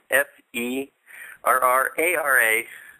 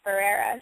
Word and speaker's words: Ferrara: actually it's pronounced or it's spelled f e r r a r a but it's pronounced Ferrera so isn't that it's